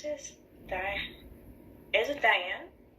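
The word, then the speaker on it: Diahann: i love that one how do you pronounce this die it diane diane carol yes oh that's nice and she's wearing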